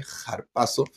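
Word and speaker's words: ἁρπάζω: la palabra arrebatar es harpazo harpazo en griego o jpaso que tiene una espíritu le llaman los que son eruditos griego se pronuncia como una jota suave jpaso eh que significa tomar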